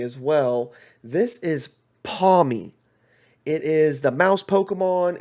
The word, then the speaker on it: Pawmi: This is, let me make sure I pronounce his name correctly as well. This is Pawmi.